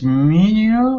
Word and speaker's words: menu: How is the pronunciations menu or menu? Oh, great question. Um, menu. Menu menu. Stress on that first syllable, but then the second syllable is like mu.